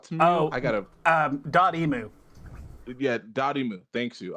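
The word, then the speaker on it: Dotemu: uh we have the uh uh developer uh dotmeu oh i got a um dot emu yeah daddy mu thank you i was like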